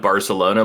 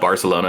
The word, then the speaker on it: Barcelona: um the king of Barcelona like the reason they speak with like a lisp in in bar Spain like it's it's not Barcelona it's Barcelona and the reason like